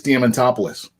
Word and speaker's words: Diamantopoulos: before he showed up on the podcast chris diamantopoulos chris diamantopoulos i practiced that out like 10